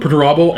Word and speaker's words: Perturabo: Pronounce the guy's name for me. Perturabo? Perturabo.